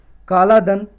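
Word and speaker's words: कालादान: Next topic है काला धन। इसकी प्रोनाउंसिएशन कुछ और भी हो सकती है, कलाधन या कालाधन या कालाधन।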